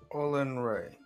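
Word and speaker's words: Olinray: y yep sure yes you just need to know how to say it all and Ray and we're we're we're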